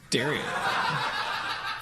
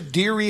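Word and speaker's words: Derry: you okay maybe she has some cheese what Dar oh it's spelled D e r r y oh uh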